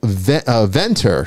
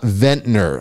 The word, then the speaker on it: Venter: name wrong last week her name is uh Venter not ventner I said vetner because I knew a veteran and I couldn't get it out of my head so it's Venter Natasha Venter so um